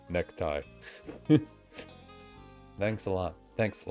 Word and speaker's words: ネクタイ: Nekutai. ネクタイ Yeah, I'm the one trying to pronounce it like the syllables, and then the voice for like an actual Japanese person is just like necktie.